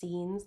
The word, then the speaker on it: zines: So starting out in some of these smaller aspects, we've got things like zines, or I always want to call them zines, but they're pronounced zines, like a magazine, which are self-published booklets or magazines, usually more indie, underground, experimental stuff.